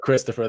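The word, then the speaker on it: Kristoffer: interesting one here is, would you pronounce it Christopher something wants me to do Christopher Ventura. It's Mm. Christopher, right? It's just spelled with a K. Yeah, I would go Christopher there.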